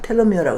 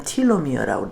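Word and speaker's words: telomere: 어떻게 하면 우리가 알츠하이머를 극복하나 해가지고 하는 것 중에 하나가 또 하나 뭐가 있냐면 텔로미어라고 발음하기도 하고 텔로미어라고 하는데 난 텔로미어라고 했는데 영국 사람들은 틸로미어라고 그러더라고.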